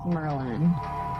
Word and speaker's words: Merlan: Yeah, it's Merlan. It's not Merlan. No, it's Merlan. Merlan, I feel like Merlan is a much actually more straightforward pronunciation because it's, the wizard, but I think people don't want to believe my name is Merlan because it's just ridiculous.